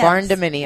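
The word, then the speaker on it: barndominium: However you How do you say you say barn barnaminium? Barn dominium. What's a barn dominium? Barn dominium. Okay.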